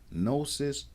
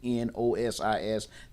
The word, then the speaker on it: gnosis: O equals to know the G is silent but important and it's same root as no knowledge recognize or diagnose cognition.